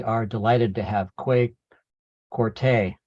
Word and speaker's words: Quartey: And we are delighted to have Kwei Quartey. I got it. The accent on the A.